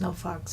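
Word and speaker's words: NOFX: rock group no FX pronounced no Fox but no FX um they said some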